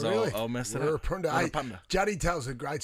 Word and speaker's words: Wirrpanda: There's a roll of the Rs in there if you really want to get it right, but I'm not going to try because I'll I'll mess it up. Wirrpanda.